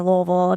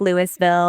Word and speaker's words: Louisville: it's quicker than saying Louisville to everybody and when they say it wrong cuz they're tourists and they're like Louisville and I'm like, "No, it's like a mouthful of marbles."